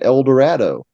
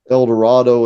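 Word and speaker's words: Eldorado: he rhymes El Dorado with shadow. Mm-hmm. Yeah. So he would have been saying El Dorado.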